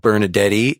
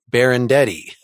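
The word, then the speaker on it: Benardete: is them this is I've been saying it wrong it's not Bernadette E it's bear and Eddie I would rather not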